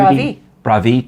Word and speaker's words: bravi: when it's everybody it's 2d something bravo too bravi yeah bravi tutti well bravi tutti to the